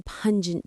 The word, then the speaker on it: pungent: onions or a very pungent cheese. The word for this is pungent. It describes a smell or taste that is sharp and powerful. Pungent. Pungent. Pungent. The stress is on that first syllable.